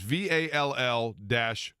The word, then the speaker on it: Vallier: It's just VALL-Yay, YEAH, Yeah.